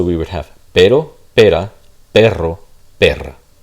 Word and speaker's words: perro: But notice that if I were to spell it with a double R, the double R, this would be a trill. So this would be a trill, this would be a flap.